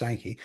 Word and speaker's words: Steinke: Go to Rick Stankkey and it's St I Nke Stanky pronounced Stany.